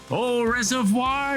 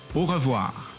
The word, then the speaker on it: au revoir: Au reservoir, Gerry. Au reservoir. Oh, how do you say it? Let me try to say it in French. What is it? Au revoir. Au revoir.